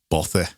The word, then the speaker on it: bothy: How to pronounce? Bothy.